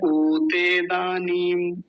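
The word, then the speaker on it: उतेदानीम्: वो है उ हरस उकार छोटा उ तो जल्दी बोलेंगे कई बार बोलते क्या है उते दानी उते बड़ा उ बना देते हैं गलत है नहीं बोलेंगे तो क्या होगा उते उते दानी नीम बड़ी की मात्रा इसका भी ध्यान रखना है मेरे साथ बोलिए उते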